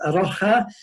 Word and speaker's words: A Rocha: they're operating the name a Russia I'm told it should actually be pronounce our house because it's Portuguese meaning of Iraq and